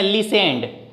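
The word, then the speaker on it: listened: उसके बाद V2 लगाएंगे, सुनना की मीनिंग लिखेंगे लिसेंड, LISTEN, इसमें T साइलेंट है बीच वाला, ही लिसेंड, ED लगा देंगे, V2 लगाएंगे, ही लिसेंड।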